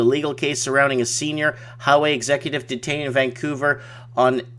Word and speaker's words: Huawei: Ray Palmer says, Mike, Huawei is pronounced Huawei.